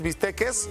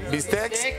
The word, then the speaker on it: bistec: como diría Archie, unos bisteques, bistecs, bisteces. Bisteque, bistec, bistec. ¿Cómo se dice? No, no se dice bisteque, se dice biste.